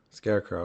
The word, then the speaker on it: SCXRECRXW: okay so how okay how do you say your name scarecrow scarecrow okay so it's just like